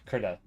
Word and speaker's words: Krita: annoying Photoshop sucks honestly critter creta kirita is pronounced kurta does anybody else know